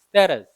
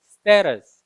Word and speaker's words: status: status. 자, st의 경우 된소리가 돼서 이 T 발음은 쌍디귿처럼 발음되고요. 두 번째 나온 T 발음은 모음 사이에 위치하니까 발음이 R처럼 바뀌죠. 얘가 어떻게 된다? status.